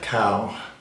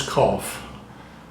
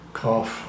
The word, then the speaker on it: cough: show you another word now how would you pronounce this word no it's not cow I know it should be but it's not it's cough cough okay cough bow all right now this word